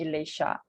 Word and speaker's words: Alicia: Actually, Actually, Alicia, I like people call me Elisha. Alicia. Yeah, it's like Elisha.